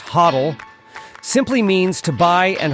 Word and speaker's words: HODL: have read holding toal usually pronounced hoddle simply means to buy